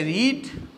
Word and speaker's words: read: इसकी first form को तो रीड पढ़ते हैं और सेकेंड और थर्ड फॉर्म को रेड पढ़ते हैं।